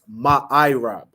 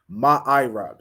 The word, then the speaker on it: ma'irab: Okay, it's ma'irab. Okay, ma'irab. So you're gonna spell that M-A, so ma, then I, just the letter I, then rab, R-A-B, ma'irab.